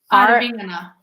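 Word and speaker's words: Arvingarna: But I do think we got the novelty, fun, feel good act with Aringvagana. Don't pronounce the G. The G is silent. Aringvagana. Oh, that's better.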